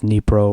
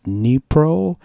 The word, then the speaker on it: dnipro: Disclaimer two, given that the company's from Ukraine, I believe the pronunciation is Dnipro, like the city. Up until I bought it, I had been saying dnipro, like it was an acronym, but rather than me